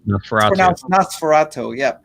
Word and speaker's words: NOS4A2: license plate NOS4A2, but it's pronounced Nosferatu.